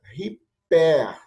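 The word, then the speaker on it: ὑπέρ: Mas como é a aspiração forte, por causa da vírgula ao contrário, ela é pronunciada riper.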